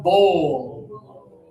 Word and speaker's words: bowl: Put up the one finger. Touch your nose and lip. Pull it down, bowl.